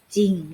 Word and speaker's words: จริง: ไป คำ ที่ 2 จอ รอ อีก 1 ออ เรา จะ อ่าน แค่ จริง เรา จะ ไม่ อ่าน ออก เสียง ร เรือ เลย เห็น ไหม คะ ก็ จะ ออก เสียง แค่ จริง เรา จะ ไม่ สะกด ว่า จะ ลิง ไง คือ ผิด นะ คะ เรา จะ สะกด แค่ จริง เรา จะ อ่าน แค่ ว่า จริง เอา ไป สร้าง ค่ะ คำ ว่า สร้าง ศ.